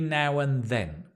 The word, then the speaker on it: now and then: Every now and then. Notice the and becomes un.